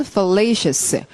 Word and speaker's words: fallacious: 형용사형 발음은 fallacious.